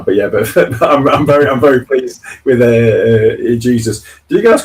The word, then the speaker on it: Jesus: Yeah, because he's Portuguese, so you pronounce the J. In Spain, it's a H. So he's not Jesus like Jesus Navas, who played for Man City because he's Spanish. It's Jesus, so it's Jesus because it's Portuguese.